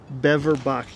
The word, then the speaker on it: Beverbach: Beverbach.